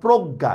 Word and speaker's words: প্রজ্ঞা: যদি হয় ঠিক আছে তাহলে এটার উচ্চারণ হবে গ হসন্ত গ আকার জফলার হবে গ হসন্ত গ চন্দ্রবিন্দু আকার যেমন প্রজ্ঞা এটা প্রজ্ঞা এভাবে হবে